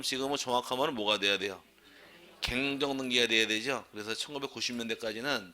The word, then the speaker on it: 경정: 갱정 등기가 돼야 되죠. 그래서 1990년대까지는 책이 두 가지로 나옵니다. 경정, 갱정 두 개로 나오는 한글어법에서 통일시켜가지고 경정으로 통일시켜 경정이 된 것이고 원래 발음은 경정이 아니라 갱정이 정확한 말이에요.